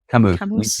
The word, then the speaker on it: Camus: Camus. You hit it right. Camus. Okay. Like a camel with an ooh.